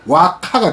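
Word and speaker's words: 和歌: 그리고 일본말로 읽으면 와카가 돼요. 와카. 화가가 와카가 되거든요.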